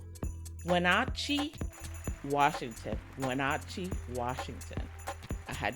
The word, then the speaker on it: Wenatchee: I was about to say Winnetucci, Winchichi. Like, I had all kinds of bad pronunciations in my head.